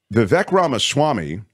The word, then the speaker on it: Vivek Ramaswamy: that's where this Vivek ramaswamy steps in uh Vivek Rama Swami you say his name really well by the